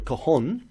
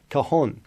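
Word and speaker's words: cajon: name for the instrument is called a Kohan and that's spelled c a j o n Kahan and it stems from the um the Spanish word kaha meaning box or drawer so that's where its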